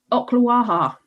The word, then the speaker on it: Ocklawaha: now I've got to see if I can pronounce this place right. Ocklawaha.